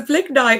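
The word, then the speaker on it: Blignite: mentioned in in your intro this thing called Ble Knight, if I pronounced that correctly. Do you want to tell a little bit more about that. So, so Bliggnite is an acronym that I've created.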